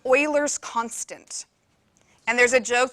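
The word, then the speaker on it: Euler: did um it's called Oilers constant and there's a joke that says you're a real mathematician when you know how to pronounce his name because it's Oiler not uler so unreal mathematicians will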